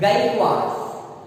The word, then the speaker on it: Gaikwad: Okay, the pronunciation is Gaikwads.